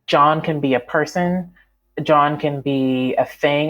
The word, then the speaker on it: Jawn: In Philadelphia, and my Philadelphia friends are going to laugh, the word that means the most is John, and it is spelled Jawn, and it means basically,